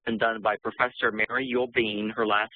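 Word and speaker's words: Uhl-Bien: You might be interested in some really interesting work that's been done by Professor Mary Yule-Bean. Her last name is spelled U-H-L, and then it's dash B-I-E-N.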